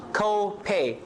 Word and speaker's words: copay: This works like a compound. Copay. Two stresses. Copay. More stresses on the co.